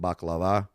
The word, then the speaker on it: baklava: If you know what a baklava is, or in the way the Greeks pronounce it, baklava, it's phyllo dough with nuts and honey and, layer after layer after layer.